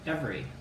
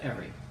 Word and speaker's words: every: So let's look at a couple words, like every. Did you see what I did there? I pronounce it every. Every. Huh. What about people who say every?